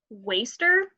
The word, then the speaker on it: WSTR: to an album by the band Waster. It's spelled WSTR. I had to go through a lot of tweets to find out how to pronounce that because they got rid of their vowels.